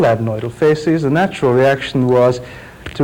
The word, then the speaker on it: facies: There was a characteristic facial appearance which orthodontists used to call the adenoidal facies, F-A-C-I-E-S. I'm telling you that because my pronunciation may be different to yours.